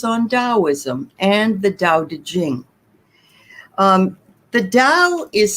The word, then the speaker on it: Te Ching: d a o uh de jing but um it's d a o and then small t e and then capital c h i n g it was written some